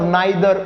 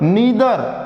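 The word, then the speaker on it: neither: इसको कई student आइदर, नाइदर इस तरीके से बोलते हैं, तो एग्जैक्ट प्रोनाउंसिएशन इसकी क्या होगी? ईदर, नीदर, ऐसे इसको प्रोनाउंस किया जाएगा।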